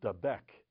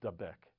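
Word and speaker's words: דבק: The word is dabek. It's spelled dalad bet kuf.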